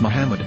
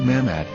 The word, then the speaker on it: Muhammad: ben yehuda's hebrew english dictionary it is correctly pronounced as muhammad not mamad so how we're going to know for sure